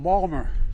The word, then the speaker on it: Baltimore: By the way, folks, I say to my dad, "Dad, they're mispronouncing Balmer."